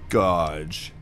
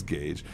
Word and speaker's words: Gage: at this bottle caps godge it's Gage some dude on the